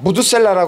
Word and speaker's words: 므두셀라: 무트 셀라 예 무트 셀라 무트 셀라 무드셀라 하는데 무트 셀라 이것은